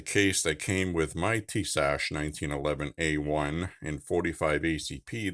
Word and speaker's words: Tisas: And this is the Tisas, as it's pronounced.